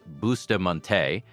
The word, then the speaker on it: Bustamonte: There is a 1973 Supreme Court ruling called Schneckloth versus Bustamonte, pronounced Schneckloth versus Bustamonte, that still governs traffic stops today.